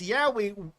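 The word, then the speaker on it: Yowie: Anyways, anyways, uh it's Yahwi Yo W I E, not Yahi as in, you know, the M slashm.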